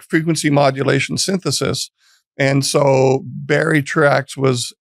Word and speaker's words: Truax: Barry Truax, who is not how I would have pronounced that.